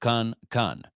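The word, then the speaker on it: 看: At number 49, we have khan. This sounds like the con in conscious.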